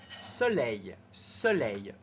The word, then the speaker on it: soleil: Soleil. Le O est ouvert.